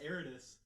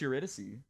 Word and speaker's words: Eurydice: It's pronounced Eridas. Eridas? Yeah. In the show, it's Eurydice.